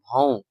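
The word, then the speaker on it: भौं: பௌ அப்படின்னு சொல்லி அர்த்தம் நான் இங்கிலீஷ் ஸ்பெல்லிங் கொடுத்திருக்கேன் பிச் ஓ என் அந்த என் லாஸ்ட்ல சைடு சைடு ப்ரொனௌன்சியேஷன் சரிங்களா அதை கட்டாயமா நோட் பண்ணிக்கோங்க பௌன் பௌன் பௌன் சரிங்களா ஏழாவது ஐ லெட்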